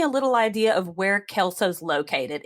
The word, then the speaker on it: Kelso: Yep, Kelso, just Kelso? like that 70's show.